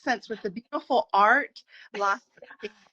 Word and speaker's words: Las Espinas: So my rosé, and you're gonna give me the pronunciation. Las Uh, Espinas. Las Espinas.